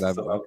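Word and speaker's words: Suwałki: pronunciation right? Yes, All right. Suwalki, yeah.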